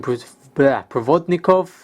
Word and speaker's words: Provodnikov: seen these boots worn by Timothy Bradley, Ruslan Provodnikov, that's how you pronounce his name, and many other books.